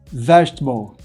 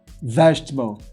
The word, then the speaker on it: vegetable: 3 sílabas, a primeira sílaba aqui é forte, então a primeira vogal da segunda sílaba não é pronunciada. Olha só, comfortable, comfortable, interesting, interesting, vegetable, vegetable.